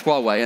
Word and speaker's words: Huawei: So we spent 15 years trying to work out how you pronounce Huawei, and then another one comes along.